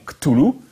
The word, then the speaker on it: Cthulhu: Si Chaosium n'avait pas tranché et choisi la prononciation Cthulhu, le maître de Providence